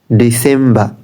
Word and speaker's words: December: যেহেতু আমরা আরটাকে সাইলেন্ট করতেছি, এই ক্ষেত্রে প্রত্যেকটা শেষে আরটা সাইলেন্ট থাকবে। সেপ্টেম্বর, সেপ্টেম্বর নট, সেপ্টেম্বর। October, October, October, October. নভেম্বর, নভেম্বর, নভেম্বর, নভেম্বর। ডিসেম্বর, ডিসেম্বর, ডিসেম্বর, ডিসেম্বর, ডিসেম্বর।